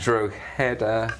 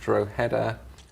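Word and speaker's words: Drogheda: It's Droa. Droa, she said. I said Droer. Sorry, Mom. Droa.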